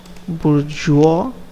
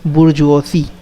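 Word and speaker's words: bourgeoisie: of the middle class which also known as bourjois i i call it but actual pronunciation is as burj osi i googled it the merchants bankers lawyers manufacturers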